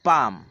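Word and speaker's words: palm: হ্যাঁ, এই তালকে বলা হয় পাম, যদিও এখানে এল রয়েছে, এল এর কোনো উচ্চারণ হবে না, এল থাকবে সাইলেন্ট, তাই উচ্চারণ হবে পাম, পাম মানে তাল।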